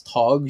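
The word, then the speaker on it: Tadhg: I'm going to say that's Tog.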